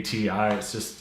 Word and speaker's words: Ti: So I like saying Ti, it rolls off the tongue. But correct way is TI, so I'm gonna try and correct myself and try saying TI in any future videos.